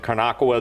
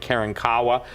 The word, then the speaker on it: Karankawa: that even in Texas, some people pronounce it Carnacoa, the other people pronounce it Karankawa, but the appetite of